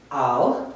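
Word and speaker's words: עַל: Okay, next word, ayin is silent, so we're going to use the vowel. Al, together. Al, upon.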